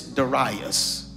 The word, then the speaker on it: Darius: Now, there are some scholarly theologians who pronounce this Darius. But for our colloquial understanding, I'm just going to say Darius.